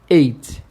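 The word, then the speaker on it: eight: O número 8, a pronúncia é 8. 8. 8. Tem o som de E e o som de T bem fraquinho no final.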